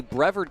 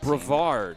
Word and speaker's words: Brevard: There used to be the Brever County Manatees. I know that is a minor league. Brevard. Brevard. Okay. And that's okay. You You're not from Florida. It's not your job to know how to pronounce that.